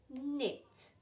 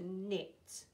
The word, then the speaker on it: knit: um night knocking two letters one sound with a silent um not i have a knot in my shoelace um knit my nanny loves to knit um night night a